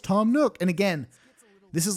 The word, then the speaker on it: Tom Nook: yeah just a classic call back to the Tom nuke bit where essentially I I put out the Y Elm Crossings fun video and everyone's like his name's pronounced Tom Nook his name's pronounced Tom Nook and again this is like classic hypercharge [